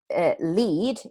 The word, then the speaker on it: lead: remember that today and so when a lead is pronounced with that a sound it means a cable such as a charging cable for a phone so if I use